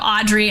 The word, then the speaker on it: Audriix: if you look up audrey and for people who are just listening it's spelled a-u-d-r-i-i-x the x is silent so look up audrey spelled that way um